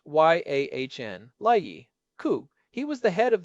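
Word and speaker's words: Jan Leike: And do not forget Jan like pronounced Y Ahn Lei Coup.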